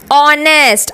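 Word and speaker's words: honest: भी हो सकता है ऑनेस्ट अब यहां पे देखिए एच से स्टार्ट है यह वर्ड लेकिन एच की साउंड यहां पर नहीं आ रही है हम इसे ऑनेस्ट पढ़ते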